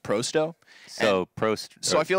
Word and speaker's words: pro100: thing is it's it's it's spelled Pro 100 right but it's pronounced proo So Pro so I